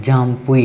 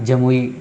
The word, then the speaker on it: जामपुई: Tripura जमुई hills, जमुई हिल, हाँ ये देखो जामपुई लिखा है इसमें, जामपुई हिल्स है ना, तो आप भी सही कर लेना, जामपुई ही कर लेना जमुई की जगह पे, है ना।